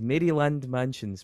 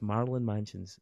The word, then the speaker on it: Maryland Mansions: album Marland Mansions right so Marin Manson but it's Maryland so if you're mispronouncing the state it says Maryland Mansions but it's not it's Marlin Mansions because he likes to